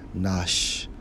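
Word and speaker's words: נְשָׁמָה: Strong's H5397 pronounced as nashma.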